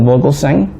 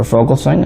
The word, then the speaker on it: Vogelsang: in the middle military colonel Vogelsang or fogelsang i've heard it pronounced both ways they asked him if